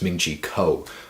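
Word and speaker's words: Ming-Chi Kuo: iPhone 7 a man pronounced his name wrong again it's Ming Chico alright so very first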